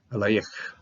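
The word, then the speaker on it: אֵלַיִךְ: I always have a tendency to try to pronounce this last Shavah, but this is a silent Shavah, so just simply el yich, okay, el yich.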